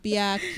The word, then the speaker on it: Pia Q: Oh gitu, Pia Q. Iya, itu jadi Q ya bacanya ya.